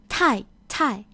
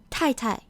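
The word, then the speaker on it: 太太: The second Tai is pronounced lightly. It doesn't take on the full tone as the first Tai. So the pinyin is written as Tai, Tai.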